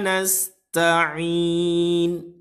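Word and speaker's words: نستعين: Ta ini memiliki sifat al-hamsu ya. Dia ada agak sedikit gitu ya. Ketika sukun pun bat, mit, mat, gitu ya. Nah, kita pengucapan pun juga sama ta, ti, tu, seperti itu.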